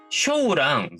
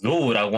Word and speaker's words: 象: 자, 음독을 읽을 때는 쇼우랑 조우라고 하는 발음으로 나뉘어 있습니다.